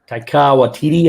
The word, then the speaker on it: Taika Waititi: Taika Waititi, I think this is how you say it.